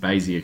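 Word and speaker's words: Bézier: So it's all to do with these things called Bezier curves, or I think it's meant to be pronounced Bezier curves, but I just say Bezier.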